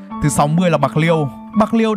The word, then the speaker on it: Bạc Liêu: 60 là Bạc Liêu Bạc Liêu được phát âm theo tiếng Hán Việt từ tiếng Triều Châu là pô léo có nghĩa là xóm